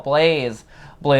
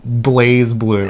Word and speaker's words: BlazBlue: lot of people like myself like to call plays blu and way better it does but i got